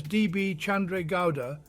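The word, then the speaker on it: D. B. Chandra Gowda: Chandra Gowda, pronounced as D.B. Chandra Gowda, was an 87-year-old Indian politician who recently passed away.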